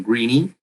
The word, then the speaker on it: Greeny: And I also wanted to sound like greeny because we want to make the solution greeny.